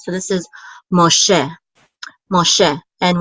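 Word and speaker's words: מֹשֶׁה: So this is Moshe. And we know that the accent is on the second syllable because of this trope mark right here. So this is Moshe.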